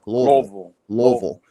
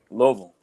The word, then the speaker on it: Louisville: trouble of saying Louisville, I always tell people, say it like you got food in your mouth. Louisville. There you go. Louisville.